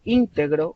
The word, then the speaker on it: íntegro: Si yo digo íntegro, estoy con la sílaba tónica al inicio, estoy hablando sobre una cualidad de una persona.